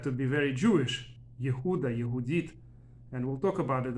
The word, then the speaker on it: Yehudit: video I want to discuss the Jewish name yehudit or as aazan pronounce it yudis it's a female name not very common but